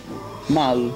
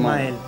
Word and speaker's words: Mael: Mal, giusto? Si pronuncia sì, Mael. Mael? Sì. Ma si dice Mael proprio? Sì, sì, sì.